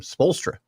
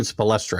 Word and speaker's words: Spoelstra: I always say his name wrong, don't I? How do you say his name? Spoelstra. I keep saying Spoelstra.